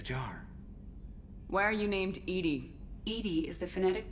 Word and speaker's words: EDI: airlock is a jar why are you named Edy Ed is the phonetic pronunciation of Eed that is an acronym for